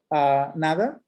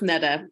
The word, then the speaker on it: Neda: Nada? I don't know if I'm pronouncing your name correctly. Yeah, hey, it's pronounced Neda. I know Spanish speakers have a hard time, but hi, everyone.